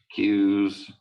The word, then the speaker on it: queue: So arrays, lists, stacks, queues, like standing in line queue. The UE is silent.